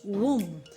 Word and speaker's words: womb: I have other ones like womb. The B is silent.